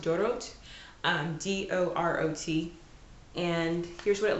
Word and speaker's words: Dorot: The next one is chopped cilantro by a brand called, I think it's pronounced Dorot, D-O-R-O-T.